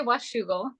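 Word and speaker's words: Washougal: Washugal or Wugle? I don't know. How do you say it, Janna? I say wugal. Washugal. Yeah.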